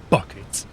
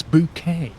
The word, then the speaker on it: Bucket: Yeah, her surname was Bucket, but she pronounced it Bouquet. People will be like, Mrs. Bucket? It's not Bucket, it's Bouquet.